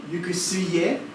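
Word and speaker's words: 行く末: There's also, I said the word yukusue, but in Know, the pronunciation would be yukusuye.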